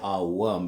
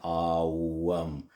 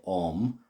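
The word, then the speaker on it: Aum: It's actually A-U. So the O is actually pronounced A-U.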